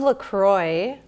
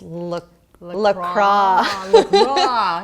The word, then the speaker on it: LaCroix: do water flavored water or carbonated I love Lacroix okay but I've recently found out that it's not pronounced like that it's look lacrosse okay so yeah okay what will end at